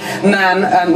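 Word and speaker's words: ma'am: as your Majesty first subsequently man which rhymes with the jam rather than mom I think that was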